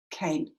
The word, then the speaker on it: cane: its final silent 8 what it's doing is it saying pronounce that a as its name so the word is cane as in this basket